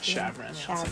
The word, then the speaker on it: Chaverin: to my spotify ben chavron b-n-c-h-a-v e-r-i i don't know how to say your last name chevron two syllables but it's like it really should be three if we're going back